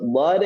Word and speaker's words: ض: Jadi huruf dhad itu bukan huruf dal. Memang cara pelafalannya mirip dal yang dibaca tebal.